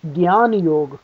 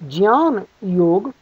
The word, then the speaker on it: Jnana Yog: The word is often pronounced as Gan Yog. In fact, that is the most popular way it's pronounced. The correct pronunciation would be Jan Yog.